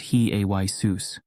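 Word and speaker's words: Ἰησοῦς: In Greek, Iesus is pronounced he-ay-sus, highlighting the linguistic transition from Semitic to Hellenistic contexts.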